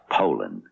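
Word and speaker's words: Poulan: And for over 30 years, they've been mispronouncing our name. Puland. Po. So, we'd like to remind you that our name is Poland.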